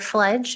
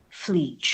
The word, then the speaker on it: Fleege: You mentioned that Mr. Fledge, is that how you pronounce his name? Fleege. Fleege. My apologies.